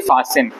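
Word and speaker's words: fasten: फास्ट फास्ट असल में इसको पढ़ेंगे टी साइलेंट है पढ़ेंगे फसन फ फसन फसन मतलब कोई चीज बांधना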